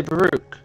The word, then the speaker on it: Baro: saying the name wrong you try to say Baro um oh Baro I've been calling a bakara for so long he was having a